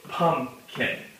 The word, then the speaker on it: pumpkin: So when we see the word pumpkin, a lot of our emphasis goes on the first part. So pumpkin. So we can kind of show that the first syllable gets the emphasis.